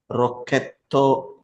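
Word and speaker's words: ロケット: you about this Raw it's got the o sound in English but you don't have that right it's Ro in Japanese it's a straight Ro o sound so that we have to be careful since we are so used to saying rocket we might make that mistake initially but this Ka is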